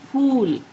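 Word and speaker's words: پھول: P and H, when these two letters are joined together, you pronounce H. H. For example, when you say pool, pool is flower in Urdu.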